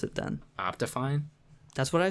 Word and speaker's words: OptiFine: pronounced like that it is how do you pronounce it then optifine that's what i said you said opti find because it's got a t in it yeah